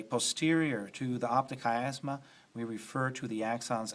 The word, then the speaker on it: chiasma: Yeah, that CH is pronounced like a K. The optic chiasma.